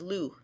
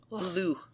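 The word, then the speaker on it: Lugh: If you recall, one of the Tuatha his name was Lu. It's hard to pronounce it because there's like a at the end. Lu.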